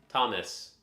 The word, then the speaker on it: Thomas: Does it rhyme with promise or boss? Or something else? They had classical guitar at my community college. I should have taken it. Yeah. Like promise. Okay. Thomas.